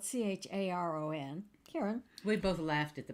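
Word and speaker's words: Charon: death picture is that full yeah so um Karen it's spelled c-h-a-r-o-n Karen we both laughed at the pronunciation I always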